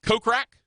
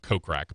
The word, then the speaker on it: Kokrak: Jason kokrak I love kokrak by the way it's better than mispronouncing his name is with with us short o as opposed to kokrak see if you say it with the short oh actually the funny thing